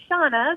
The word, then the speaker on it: Shanna: good morning it's uh it's about shanna and pronounced shauna but we are live and on the air